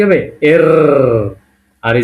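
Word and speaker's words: Р: তারপরে পি কে এর উচ্চারণটা কি হবে? এর।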